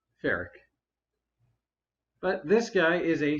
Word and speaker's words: Ferak: United faric and that name sure is something fic is apparently the correct pronun a because Bob